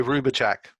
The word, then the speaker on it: Hrubovcak: J.J Hrubovcak.